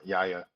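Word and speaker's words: Yahya: the do you pronounce that again y Yaya Yaya muhamed y why think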